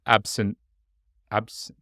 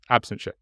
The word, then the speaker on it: absentia: were charged um in absent ABS absenta how how was that pronounced absence Absentia thank you um in Seattle District